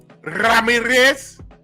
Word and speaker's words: Ramirez: You gotta roll the Ramirez. Ramirez.